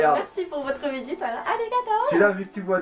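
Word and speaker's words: ありがとう: Arigato. Voilà. C'est pas alligato, non? Ouais, c'est ça. Je prononce pas alligato.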